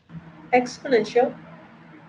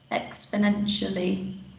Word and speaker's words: exponentially: that again angelico exponential oh almost you just just uh just left off the last bit the lee exponentially yeah okay exponential good yeah just make sure you pronounce the league because it's an adverb but yes very good